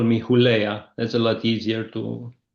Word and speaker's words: Hulea: The right pronunciation will be Hulea, but it doesn't really matter as long as I know you're referring to me is fine.